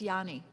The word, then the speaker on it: Ayani: I know Miss Ayani, you I is it or I or neither? It starts like with an I, but it's actually pronounced like a Y. So, it's Yanni.